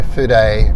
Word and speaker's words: fude: talk about today is that I've received my food a that's the right pronunciation Japanese pen which is today is brush